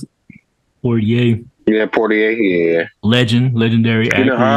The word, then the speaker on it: Poitier: Is that how you pronounce it? Poitier.